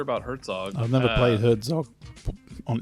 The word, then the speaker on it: Herzog: See, I'm getting my words wrong because I'm trying to get ready to pronounce this correctly. We are talking about Hergog 2. Is that right? Herzog.